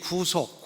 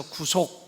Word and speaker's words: 구속: 생각도 들고 그런데 이 구속 후속 이라는 게 그리 장로님이 제가 이 부서별 하니까 가르쳐 주셨어요 짧게 발음 해서 구속 그러면 감옥 가는 거고 구속 길게 발음하면 이게 예수님이 속전을 내고 해방 시키시는 것이고 그렇습니다 그러니까 예수의 피로